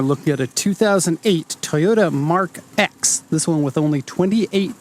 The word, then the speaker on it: Mark X: the Mark II and it is pronounced mark x not Mark 10 even though Mark II